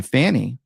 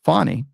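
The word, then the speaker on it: Fani: one prosecutor engaged by Fanny pronounced fonny Willis to persecute Trump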